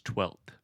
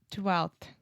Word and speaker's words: twelfth: So the F in 12th, we don't pronounce at all.